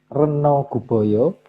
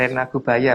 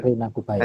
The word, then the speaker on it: Rena Gubaya: Slide ke-63, sementara itu Sang Hyang Reno Guboyo ditunjuk untuk mengendalikan hama berupa tikus. Rena Gubaya Mas bacanya. Iya, lanjut. Rena Gubaya.